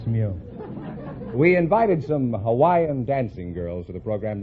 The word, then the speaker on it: Hawaii: I'm from Hawaii Hawaii is that the correct pronunciation I thought it was how I know that's not right Hawaii is correct oh you couldn't say Hawaii I